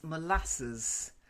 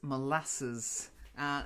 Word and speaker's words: molasses: okay the next one April is molasses not molasses molasses it's something we've taken from the Americans would take their pronunciation of it because we don't have well we don't use molasses that much so molasses okay that's it good basically it's a